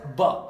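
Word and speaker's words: ب: Ça, je vous confirme que c'est la lettre Ba. Elle s'appelle Ba. Mais la lettre Ba, elle s'appelle Ba, mais elle ne se prononce pas Ba. C'est B, B, B, B. C'est le son simplement B.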